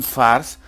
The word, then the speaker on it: fährst: Sé que pone fährst, wohin fährst, pero recordar que la A con las dos puntitos, con la diéresis, hace el sonido de una E.